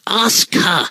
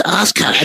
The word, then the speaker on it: Asuka: I can't believe you mispronounced it. I mean, that'd you be didn't say like... it right. Yeah, you didn't say it right. It's Asuka. It's Asuka. Come on.